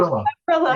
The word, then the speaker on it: Havrilla: the list today, I'm going to say it wrong again, Havrilla. I got it right. Havrilla.